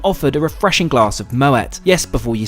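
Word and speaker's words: Moët: a refreshing glass of Moet yes before you say it's pronounced with a hard T thanks to its Dutch Heritage and founder Claude Moet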